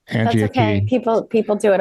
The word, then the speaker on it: Angie: was mispronouncing your name Angie okay people people do it all the time website say it sounds like here in spanish yeah then people are